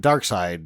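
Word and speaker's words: Darkseid: tough but he's not dark seed Dark Side dark seed however you want to say it it's spelled seed but I guess they pronounce it dark side especially in the movie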